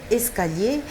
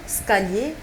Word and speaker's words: escalier: Aujourd'hui, nous apprenons le mot escalier. Il y a plusieurs personnes qui le prononcent mal pour dire scalier. Il ne s'agit pas du scalier, mais plutôt de l'escalier.